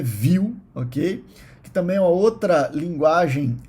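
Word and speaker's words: Vue: aí é o viu Apesar do nome erro e não não fala voe a pronúncia é viu ok também a outra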